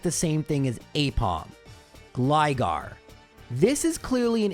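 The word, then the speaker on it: Aipom: I was on the fence about this one, but after putting its Japanese characters into Google Translate, Apom is pronounced basically apom in Japanese, but spelled very weirdly.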